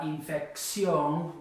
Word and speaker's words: infección: And la infección works the same way. It ends in an N. Naturally, it should be the fec, but it's not on that syllable, the fec syllable. It's the ción syllable.